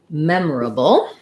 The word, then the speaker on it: memorable: where i was doing four syllables first syllable stress mem uh the or this is one of our er examples or says er memor a bull there's our dark syllabic l again memorable or americans will also reduce it take this vowel out and say it more like mem bull memorable in either case for